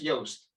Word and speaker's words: Joost: there my name is that's how you write it in in dutch but you pronounce it as yost yes which i now